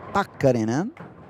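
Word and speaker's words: Pakarinen: I was told last year that the Finnish surnames, they have the the strength of the sound at the beginning. So, it's Pakarinan.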